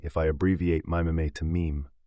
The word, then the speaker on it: meme: I hope my classist friends will forgive me if I abbreviate mime to meme. It should be pronounced to rhyme with cream.